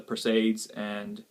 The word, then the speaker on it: Perseids: The Perseids rather. That's how it's pronounced.